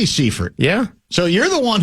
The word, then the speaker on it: Seifert: It's not cipher. It spells like cipher. Do you you know how to spell it? Um it's got a E and a I together. But the E is first, is it not? It is. It should be Seford.